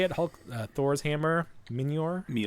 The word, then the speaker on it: Mjolnir: Minor. Mjolnir.